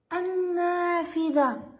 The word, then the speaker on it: النافذة: انظروا إلى كلمة النافذة. النافذة، هل لفظت اللام هنا؟ لم تلفظ اللام في هذه الكلمة. إذن حرف النون حرف يعتبر ضمن مجموعة الحروف الشمسية. قلنا النافذة، لم نلفظ هنا اللام.